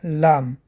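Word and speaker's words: لام: Следующая буква – это буква Лам. Лам произносят, дотрагиваясь боковой частью кончика языка десны верхнего клика. Ла, Ли, Лу.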